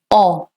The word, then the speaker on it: on: It has a nasal sound, alright? It's not on, it's on. On.